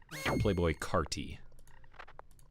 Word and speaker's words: Playboi Carti: __ ] that is it's spelled c-a-r-t-i not that that makes any difference but it's Playboy carti nah shopping Carty it's